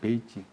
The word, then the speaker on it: 베이징: 우리가 이제 사실은 우리 옛날에 북경을 우리는 우리말로 북자에다가 북쪽의 북자에다가 서울경자 북경 그랬는데 실제 거기 이름은 베이징이잖아요. 베이징.